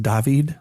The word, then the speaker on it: David: the dead David Luiz I think that that's pronounced dahveed oh yes nothing to